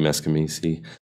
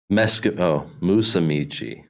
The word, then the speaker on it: Musumeci: Mikey Meskimisi. What was that? Is that how you say it? Musumeci.